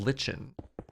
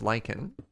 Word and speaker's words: lichen: It's not lichen. It's pronounced lichen. Yeah, that's actually how you say that word.